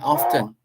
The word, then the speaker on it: aften: And afternoon mean AFTEN. AFTEN, often.